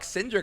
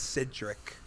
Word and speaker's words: Cedric: When they were like Cynric, I'm like, what am I saying wrong? Is that not It's Cedric.